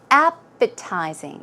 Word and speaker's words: appetizing: Now the pronunciation is appetizing. The stress goes on the first syllable.